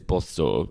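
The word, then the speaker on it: Båstad: Well, you already have, Joel, with that because it is Bastad. It's not Bastad, it's not Gastad, it's none of those, Joel.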